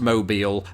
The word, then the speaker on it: Mobile: there's a city spelled exactly the same way pronounced mobile and that is why this word makes my